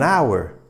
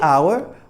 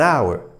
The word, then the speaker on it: hour: say an apple we have to say an hour not a hour but an hour why because the h in front of our